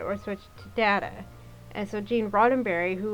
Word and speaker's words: Data: Data or switch to Data. And so Gene Roddenberry, who was still alive at the time, said that whoever pronounced the word first, that was how the word would be pronounced from then on.